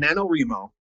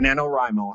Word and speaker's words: NaNoWriMo: It's called NaNoWriMo, or NaNoWriMo, however you want to pronounce it.